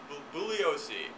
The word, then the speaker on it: Bugliosi: by leo julio Bugliosi you don't pronounce the G booboo leo see but at any rate